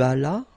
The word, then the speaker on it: allas: J'allais, tu allas, remember final S is not pronounced.